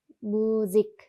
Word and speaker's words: Musik: 여기에서 요 S 같은 경우도 모음 앞에 왔잖아요. 그래서 Z 발음하셔야 됩니다. Musik.